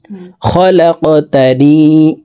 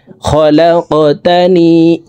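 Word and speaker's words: خلقتني: আল্লাহুম্মা আনতা রাব্বি লা ইলাহা ইল্লা আনতা খলাকতানি, খলাক, লাম কফ জবর লাক, কফ কলকলার হরফ উপরের দিকে ধাবিত করে ধাক্কা দিয়ে উচ্চারণ করব। খলাকতানি, খলাকতানি ওয়া আনা আবদুকা।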